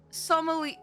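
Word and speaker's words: sommelier: We require the services of a skilled soul sier s how do you pronounce this word? It's Slier sier.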